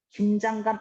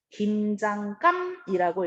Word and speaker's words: 김장감: 긴장감 아니고 김장감이라고 읽어요.